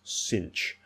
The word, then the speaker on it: sinh: uh you might pronounced you might pronounce thanan as tan now I prefer shine Kosh thanan but I understand if you want to use cinch Kosh tan I get it so it's really there